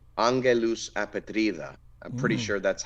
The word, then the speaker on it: Angelus Apatrida: number one pick, I'll say it like in the American English way, is Angelus apatrida. I think it's pronounced Angelus apatrida.